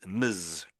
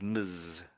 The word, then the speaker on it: Ms: started using it and we pronounce it as m muzz muzz muzz. So it sounds a little bit like miss but it isn't quite. So that's miss. This one is muzz.